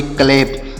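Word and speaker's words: clap: सी एल ए पी, तो सी एल से आधा का और ल, ए का उच्चारण एक ही मात्रा, पी से प, तो इसे पढ़ेंगे क्लैप। इसे क्या पढ़ेंगे? क्लैप पढ़ेंगे। देखिए अगर यहाँ लास्ट में ई रहता तो हम इसे पढ़ते क्लेप।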